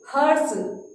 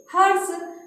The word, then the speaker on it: हर्ष: और बच्चों, जब हम ये र बोलते हैं तो र तो क्या है? आधा है। इसलिए जो इसका उच्चारण है र का बहुत ही कम समय के लिए होता है।